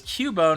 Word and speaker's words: Cubone: Everybody says Cubone because it's pronounced that way. Or it could be like Cue-Ball, right? There's that trainer class called Cue-Ball, right?